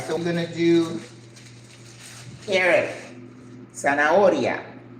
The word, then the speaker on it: zanahoria: All right, so we're gonna do carrot, zanahoria, zanahoria. Remember, Z in Spanish is pronounced like S. So it's Z-A-N-A-H-O-R-I-A, zanahoria.